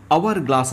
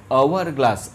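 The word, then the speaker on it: hourglass: ಇನ್ನು ಎರಡನೇದು ನೋಡಿ, ಆ್ಯನ್ ಅವರ್ ಗ್ಲಾಸ್ ಅಂತ ಇದೆ. ಇಲ್ಲಿ ಕೂಡ ಬಿಗಿನಿಂಗಲ್ಲಿ ಎಚ್ ಬಂದಿದೆ. ಎಚ್ ಅನ್ನೋದು ಕಾನ್ಸೋನೆಂಟ್, ಲೆಟರ್ ಕಾನ್ಸೋನೆಂಟ್ ಇರ್ಬೋದು, ಬಟ್ ಉಚ್ಚಾರ ಮಾತ್ರ ಓವೆಲ್ ಆಗ್ತಿದೆ. ಆ್ಯನ್ ಅವರ್ ಗ್ಲಾಸ್, ಅ ಅಂತ ಆಗ್ತಿದೆ.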